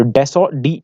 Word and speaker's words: Dassault: को फ्रांस की कंपनी थी, उसका नाम था डेसो aviation. So डेसो DASSAULT it's pronounced as डेसो.